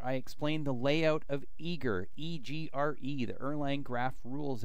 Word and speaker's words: EGRE: layer so how much how do you pronounce eager eager eager like ogre but y but less less unfriendly